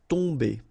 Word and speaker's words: tomber: Okay, so remember, you've got O-M here, but after that you've got a consonant, so it does mean that this combination of O-M will give you the sound on. Okay, you don't pronounce the M at all, so it's really a nasal, so it goes in your nose.